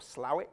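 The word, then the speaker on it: Slaithwaite: So the valley of Colne Valley, which is Linthwaite, Slathwaite or Slowett, depending on how you pronounce it, or Marsden.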